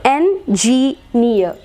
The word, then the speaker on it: engineer: സോ engineer, engineer, engineer, engineer. Okay, that's it about the fourth rule. Words ending in EE and EER, stress should be marked on the syllable containing the suffix.